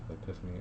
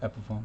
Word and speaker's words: Epiphone: It was like Epiphany. I don't know how to say it. Epiphone. Epiphone.